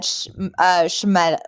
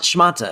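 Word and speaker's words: shmatte: We had Shemeta. Why am I saying it wrong? Shemeta? Schmalta. Shemata? Schmata. Yeah.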